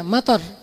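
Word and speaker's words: مطر: Harus pendek bacanya, mator. Kalau kalian bacanya panjang, mator artinya airport. Jadi bahasa Arab beda panjang pendek doang, beda art. Kalau kalian bacanya mator, berarti itu artinya Bandara Soekarno-Hatta. Tapi kalau kalian bacanya mator, artinya air, hujan.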